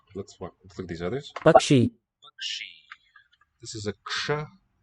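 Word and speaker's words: पक्षी: We transliterate it with a K and a subscript dot sha for the retroflex. Ksha. Bakshi. But it wasn't really pronounced that way across all of ancient India at all times. There were many other variants too, pronunciations for this cluster letter, Bakshi.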